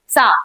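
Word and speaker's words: saw: भी नहीं दिखाई दिया ये सा नहीं होता है बहुत लोगों को मैंने सुना है इसको प्रोनाउंस करते हुए सा ट आई सा नथिंग आई सो ये क्या है सो है सो शी सो nothing there उसने वहां पर कुछ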